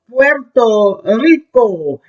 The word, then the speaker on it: Puerto Rico: Class is called Puerto Rico. Now I'm going to do the Puerto and Ri. The R's roll. Ri. Puerto Rico.